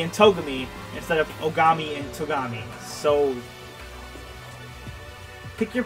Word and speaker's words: Ogami: but then they went two steps back and mispronounced sakura and biakia's last name as ogumi and togami instead of ogami and togami so pick your poison i guess